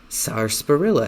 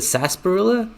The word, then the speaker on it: sarsaparilla: Also used to make the soft drink called sarsaparilla. Is it sarsaparilla? I think I may have heard of that. Sarsaparilla. Is the R just not... You just don't pronounce the R?